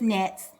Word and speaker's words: gnats: Someone would say gnats. No, they're just nets. The G is silent.